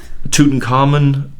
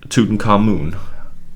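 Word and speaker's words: Tutankhamun: it does anymore um tootin carmen tutankhamoon i guess it's i cite well i put men on the end because i use amen for the god and i use amenhotep and i try to be consistent but again a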